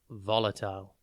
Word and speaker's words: volatile: one word at a time today's word is volatile it is pronounced Vol a tile and spelled v l